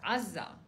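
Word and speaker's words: עזה: So in Hebrew, the word Gaza, pronounced Azza, and actually is mentioned numerous times in the Bible.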